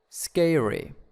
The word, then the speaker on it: scary: the first syllable and scary scary and frightening frightening in the first syllables and moving in the